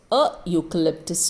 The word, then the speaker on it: eucalyptus: juicy orange look at this e u gives us the sound of u which starts with a y okay when the sound starts with uh the sound of a consonant the sound of the consonant y is ya okay so whenever you get this year sound remember it is a eucalyptus tree your sound so a university remember